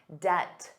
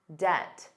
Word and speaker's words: debt: Did you notice the B was silent? Debt, debt, debt.